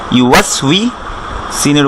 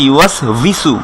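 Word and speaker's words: يُوَسْوِسُ: আমাদের দেশে এটাকে পড়া হয় ইউ ওয়াস ভিসু, ভিসু বলে। এটা সম্পূর্ণ একটা ভুল উচ্চারণ এবং এটা পড়লে কোরআনেও মানে উচ্চারণটা অশুদ্ধ হবে কোরআনে যদি পড়ি আমরা।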